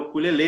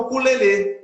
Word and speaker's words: ukulele: Que você pronuncia como oxítono aí, né? O ukulele, alguns ficam em dúvida quanto pronúncia, né? Aqui no Brasil ele foi batizado de ukulele, né? Mas tem outros lugares que se chama de ukulele.